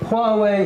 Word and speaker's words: Huawei: But Huawei Well, that's how you pronounce it.